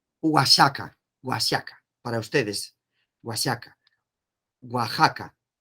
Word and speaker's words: Oaxaca: de méxico méxico waka waka para ustedes huasaca oaxaca y ustedes dicen wash y acá en méxico pues ese es la pronunciación igual de la x aquí como si